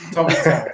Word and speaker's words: Tomintoul: And I'll have to pick you up in your pronunciation again, Arthur. I know, okay. Tomintoul. I was going to hang a towel in the corner of the room. Tomintoul, yeah, please.